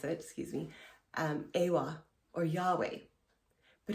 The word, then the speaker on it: Yahweh: excuse me umwa or Yahweh but in the original Hebrew it was pronounced as a breath sound so it's oh so